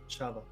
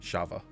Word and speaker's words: Shava: Shava. I was going to go check, but you got it. I'd forgotten. What was that again? Sorry, I'm finally making notes. Shava? Shava.